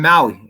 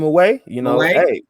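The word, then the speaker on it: Mawae: I'm gonna go with my boy Kevin Maui. That's how you pronounce his name, right? Kevin Maui. Yeah, Kevin Maui or Kevin Maway. Maway, man.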